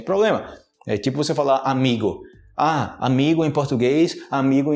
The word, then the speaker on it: amigo: amigo hoje amigo amigo em português seria amigo Ok Lembrando que amigo está correto aqui mas a gente fala amigo no final amigo carro também é